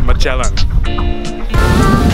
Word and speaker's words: Magellan: Philippine soil for the first time actually it's pronounced Magellan there's one other thing I noticed the drivers